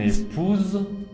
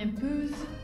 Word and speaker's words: épouse: Y mon épouse, Mon épouse. eso sería mi esposa, con una z al final.